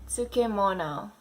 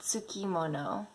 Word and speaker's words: tsukemono: And last but not least, number 10, tsukemono, not tsukimono. Right, Tsukemono.